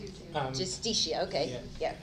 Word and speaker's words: Justicia: How do you pronounce it? Justicia, okay.